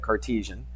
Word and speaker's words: Cartesian: Cartesian is how you say that, Cartesian.